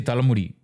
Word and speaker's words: talamudi: You would say talamudi. Talamudi is how you say hair in Tamil.